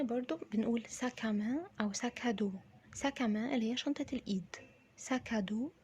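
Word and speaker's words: sac à main: حقيبة نطقها سهل جدا. ساك. تمام. عندنا برضو بنقول ساكامان او ساكادو. ساكامان اللي هي شنطة الايد.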